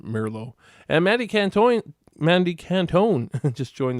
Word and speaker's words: Merlo: I know I pronounce it Merlo, but as everybody where I come from pronounces it Merlo.